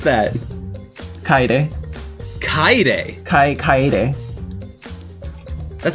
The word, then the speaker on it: Kaede: I mean, the biggest egregious thing is that you mispronounce Kaede's name every chance you can get.